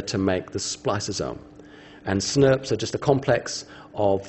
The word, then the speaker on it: snRNP: And we pronounce that as a SNRP, okay? Small nuclear ribonuclear protein. So that thing there, we just call them SNRPs.